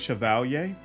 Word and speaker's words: Chevalier: Next up is Chevalier. And yes, I absolutely plan to keep pronouncing it this way, despite all the people in the comments trying to explain why that's not correct. I've explained multiple times that this pronunciation absolutely is correct.